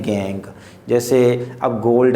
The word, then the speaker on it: gangue: इट is known as गैंग। देखो spelling थोड़ी सी अलग है इसकी, नाम गैंग है, GANGUE, गैंग।